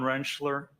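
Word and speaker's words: Rentschler: Could you please state your name for the record and spell it? Uh, Dr. Wrenchler.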